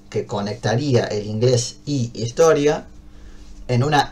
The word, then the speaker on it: historia: Entonces agarro la palabra historia con, si bien arranca con h la palabra historia, si bien se escribe al principio con h, el sonido que yo emito cuando digo historia es muy par es la i, es igual a la i.